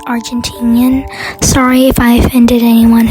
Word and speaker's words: Argentinian: I'm sorry, it's actually pronounced Argentinian.